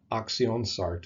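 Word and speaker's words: Aktionsart: Action sard in English from the German word for the kind or sort of action oxion sart is how they say it you can see where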